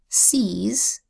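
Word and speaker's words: seize: letter phonogram e i the e i phonogram makes three long vowel sounds it makes the long a sound a as in Vale the long e sound e as in seas and the long I sound i as in feisty so I can say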